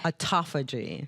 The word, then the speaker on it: Autophagy: Autophagy. Autophagy. Okay. Which is a very interesting word, and I mispronounced it, and my daughter teased me every time I said it.